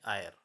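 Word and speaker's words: heir: जो है साइलेंट है, जैसे an honest man, एन आर, एन आयर। यहाँ पे आप देख रहे होंगे बच्चों एच साइलेंट है और उसके एकदम बाद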